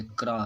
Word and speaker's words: crow: जैसे कि ब्राउ ले लीजिए, जैसे ये क्राउ है, CROW, क्राउ पढ़ते हैं, इसको पढ़ना है क्राउ क्राउ। ओ तक ही पढ़ेंगे, डब्ल्यू साइलेंट रहता है यहाँ पर।